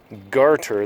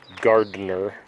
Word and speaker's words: garter: By the way, garter, the name is pronounced garter, not gardener or garden snake.